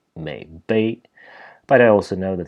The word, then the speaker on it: 渼陂: According to my go-to dictionary that I use all the time, the proper pronunciation in this case for the signification should actually be Meipi.